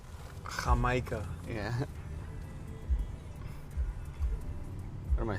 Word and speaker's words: jamaica: You know we don't pronounce the J with a J. Jamaica.